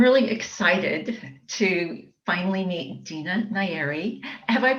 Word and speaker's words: Dina Nayeri: And I'm really excited to finally meet Dina Nayeri. Have I pronounced your name correctly?